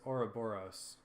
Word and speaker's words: Ouroboros: the Ouroboros is defeated I've been mispronouncing the boss name I think you've been saying or or I forget how I've been saying it but it is Ouroboros so I apologize for